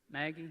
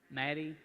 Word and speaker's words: Maddie: what was your name Maggie Maggie ask a question about the spending bill what did I say it wrong Maddie with with addy I'm sorry I'm getting